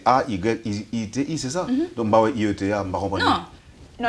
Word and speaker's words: Haïti: réfléchir aux lettres parce qu'en anglais I c'est I E T. Donc en gros, je leur dis que je m'appelle IET. I-E-T. C'est la seule façon qu'il prononce ça, sinon il m'appelle Heidi.